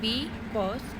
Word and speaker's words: because: When you pronounce it because I could not stop for death. For pronouncing B, you put less stressed, and for pronouncing cause, you put more stressed.